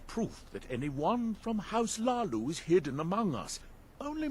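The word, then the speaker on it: Hlaalu: It's Lalu with a silent H.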